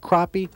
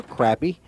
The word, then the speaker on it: crappie: parts of the country pronounced crappie or crappy if you can find